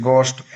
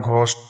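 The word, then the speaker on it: ghost: घस्ट भूत गोस्ट गोस्ट इट्स गोस्ट instead of घस्ट ऑनेस्ट ईमानदार honour सम्मान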